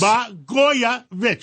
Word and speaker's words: Blagojevich: Blagojevich.